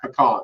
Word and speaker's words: pecan: And it is pronounced pecan, sir, just so you know.